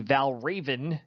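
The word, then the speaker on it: Valravn: we're solving for the mass it says the Val Raven that's how it's pronounced is a steel coaster at Cedar Point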